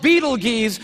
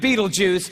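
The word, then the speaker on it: Betelgeuse: heard about this star it's called Beetle Gees or Beetle Juice you can pick your pronunciation I'm obviously going with Beetle Juice and Beetle Juice is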